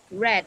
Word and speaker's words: read: Tulisannya sama read, cara bacanya aja yang beda. Jadi bacanya apa? Read. Red ya, seperti Red. kamu menyebut warna merah.